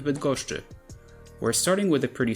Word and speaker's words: Bydgoszczy: You can also see the infamous SZCZ cluster, but it's nothing more than a combination of sz followed by ch.